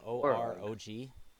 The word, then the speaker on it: Orog: Oh, geez, how to pronounce that? In Orog. Spelled O-R-O-G.